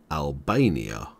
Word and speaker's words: Albania: Grace Kosovo Montenegro and North Macedonia and you pronounce Albania like this Al Bae ni ah Albania subscribe for more videos from English language training